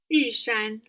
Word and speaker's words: Yushan: So that's the tallest mountain in Taiwan, which is pronounced again? Yushan.